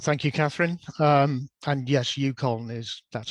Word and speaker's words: UConn: And yes, UConn that's how you pronounce it.